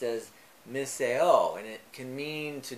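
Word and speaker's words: μισέω: that greek word is strong's number 3404 uh pronounced as misseo and it can mean to detest or it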